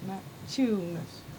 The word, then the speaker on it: Maciunas: letter that George McMahon, it seems that you have to pronounce it, that the middle of his name you have to pronounce like to chew. Some people say, how do you pronounce George Maciunas? But it's Maciunas.